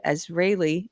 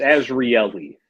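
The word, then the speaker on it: Azrieli: It's not a common name. It's Azraeli, but it's fine. Azraeli.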